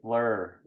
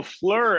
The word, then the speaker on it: Fleur: her name sorry sorry when I said I say Fleur well that's how it's spelled in the lyrics yeah yeah yeah yeah it's because sometimes people say flow her name is Flo blur yeah flower in French there you go all